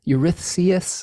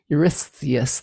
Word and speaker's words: Eurystheus: to a a king uh i can never pronounce the king's name it's it's that e name euryth eurythius there's yours oh yes yes i think that's it yeah there's eurystheus there's too many consonants with s's but basically